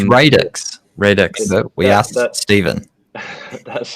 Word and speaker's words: Radix: It's Radix. Radix. We asked Stephen. That's how I pronounce it, but it means the origin or the impetus or something for the start.